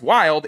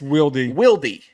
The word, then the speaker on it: Wildy: I've been informed that his name is not pronounced Wild. It's Wildy.